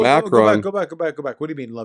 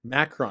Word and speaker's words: Macron: Macron. I don't think it's I think it's pronounced Macron.